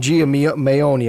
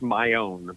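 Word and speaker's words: Maione: but her musical talent well the name it's pronounced my own pretty simple um my my grandpa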